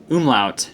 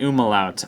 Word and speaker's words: umlaut: Immel out over it oom lout not uma lout I've been saying it wrong for like ten years or